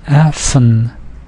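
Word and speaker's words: אַפֿן: Note with the last word, it looks like there's only one syllable, but it's actually two syllables, because we talked about n being syllabic at the end of the word, so it's Affen.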